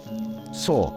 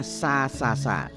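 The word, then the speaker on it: ꦱ: Ada 3 huruf so dalam bahasa Jawa. So. Kalau anak-anak sekarang bacanya sa.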